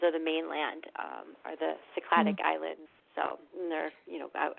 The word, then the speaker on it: Cycladic: Is it Cycladic Greek island? Cyclid? Yeah, I know Cycladic. Cycladic islands, exactly.